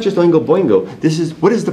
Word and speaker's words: Oingo Boingo: You got the second one right, just chop the B off on the front, you're good. Chop the what off? On the first one. So it's spelled just like the other one, but without a B.